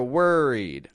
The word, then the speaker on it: worried: want to point out, notice I'm not pronouncing the O in worried like worried. You know what I mean? I'm getting it like an Can I hear you say that kind of like were?